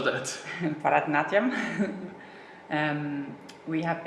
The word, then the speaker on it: Bharatanatyam: I was going to ask how to pronounce that. Bharatanatyam.